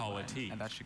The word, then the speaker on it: politique: Now, even though it's French, it does come from politique. Are there any alternate pronunciations?